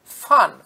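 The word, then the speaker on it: van: আমরা বাংলায় লিখি ভ্যান হেলমন্ট, কিন্তু প্রকৃত উচ্চারণ হচ্ছে ইয়োহান্নেস বাপ্টিস্টা ফান হেলমন্ট। ভিএন যেটা ভ্যান লেখা থাকে তার উচ্চারণ কিন্তু এক্ষেত্রে ফান, ফয়াকার দন্তের ন।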